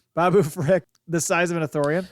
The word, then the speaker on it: Babu Frick: Could you imagine a little freaking Babu Freak, or Frick? I always say his name wrong. Babu Frick, the size of an Ithorian, like huge Babu Frick.